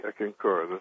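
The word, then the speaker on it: Eckankar: I had heard about him, but I had never studied, how do you pronounce it, Ekankar? Ekankar.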